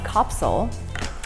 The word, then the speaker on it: Kapsule: Kapsule is actually Dutch. It's pronounced Kapsule.